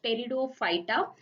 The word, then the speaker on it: Pteridophyta: So P is silent here. You need to pronounce it as Pteridophyta.